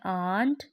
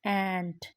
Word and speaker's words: ant: ये लफ्ज़ बनता है एंट, एंट। तो ज़्यादातर बच्चे जो हैं वो बोलते हैं आंट, तो लेकिन चूंटी के लिए जो इसकी प्रोनाउंसिएशन है वो है एंट, एंट।